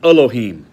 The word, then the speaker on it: Elohim: the top word over there in Hebrew is Elohim properly pronounced Elohim and it means God here's the confusing part that's the plural but it's used of God all the time all through the Old Testament Elohim now the singular is L or L AHA